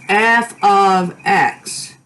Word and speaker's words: f(x): This is supposed to be pronounced f of x.